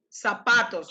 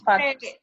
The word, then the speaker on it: zapatos: Zapatos. That's what you put in your Tomás. Tomás. Give me the verb. Tomás. Se pone los patos. Zapatos. Pone las zapatos. Listen to my pronunciation.